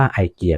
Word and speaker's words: IKEA: ต้อง นะ ครับ เรา จะ ต้อง อ่าน ว่าว egear นะ ครับ ตาม ประเทศ ต้น กำเนิด นะ ครับ แต่ หลาย ๆ ครั้ง ก็ จะ อ่าน ว่า ไอเกีย ก็ ได้ นะ ครับ ตาม แต่ การ ออก เสียง ของ แต่ ละ ประเทศ นะ ครับ โดย ที่